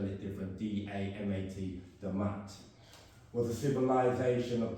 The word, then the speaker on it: Damat: it meant, but they call it, some people spell it different, D-A-M-A-T, Damat.